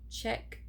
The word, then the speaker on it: Czech: Two, I just really didn't know how to pronounce the darn word. But that's neither here nor there. Moving forward, it is the Czech Republic.